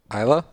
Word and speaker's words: Isla: somewhere near here here how do you say her name there's no s Isla mm-hmm over here an